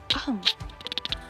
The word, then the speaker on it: ohm: Tandanya seperti ini, dibacanya ohm. Kayak ketika kalian wahing kan ohm gitu ya.